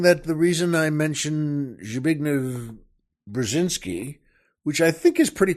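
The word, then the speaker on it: Zbigniew Brzezinski: also worth mentioning that the reason I mentioned zign brazinski which I think is pretty close to how it's pronounced he was uh the National Security advisor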